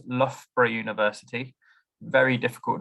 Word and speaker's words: Loughborough: And we have 2 of them in the name of our university. So Loughborough University is what we're called and how you say it.